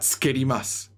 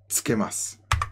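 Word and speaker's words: つけます: Now, tsukeru, it rhymes with iru eru. It's an iru eru verb. So it's not tsukerimasu, okay? It's tsukemasu, right?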